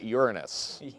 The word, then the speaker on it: Uranus: And the pronunciation is Uranus. Uranus.